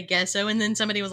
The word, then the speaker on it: gesso: pronounce anything and so I was calling gesso gesso oh yep and I taught a whole class at creating keep University calling it guesso oh no did anyone